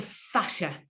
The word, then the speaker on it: fascia: that were brothers and Jason fashion you and John fashion you remember one of them came out as gay so I'm just putting these things in your mind so you remember how to say the word it's quite a sad